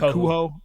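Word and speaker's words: Kohou: Cater is how we say his last name. Kohu. Kohu. Kohu.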